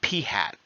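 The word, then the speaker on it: p̂: get something that looks like this it's called p-hat that's how it's pronounced it's just p-hat we're not going to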